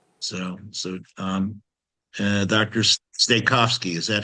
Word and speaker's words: Stachofsky: Stikovski, is that how you say it? You're you're muted. That's it. Stahosi, but yet so So you've escaped, in other words.